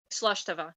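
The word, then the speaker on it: slàinte mhath: And okay, I think I still remember how to pronounce slash tava. Slush Tava, yeah.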